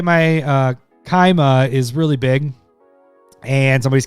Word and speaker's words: Kaima: Pronounce it this way. Kaima.